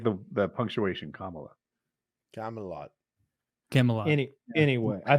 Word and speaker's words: Kamala: or I keep getting corrected on how to pronounce her name but I don't mean to disrespect when I call her Camala I just thought that was her [ __